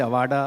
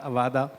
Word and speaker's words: Aada: The name Aada many people pronounce wrongly somebody say Avada Aada it's very simple for us a has